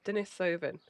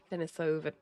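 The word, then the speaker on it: Denisovan: Dennis Soven spelled like that. I don't know if that's how you pronounce it, but D E N I S O V A N. Dennis Soven.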